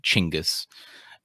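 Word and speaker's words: Chinggis Khan: to a book about chingus kong a long time ago that's how he pronounces it um and how how um craig benjamin recommends you say it chingus and uh it's really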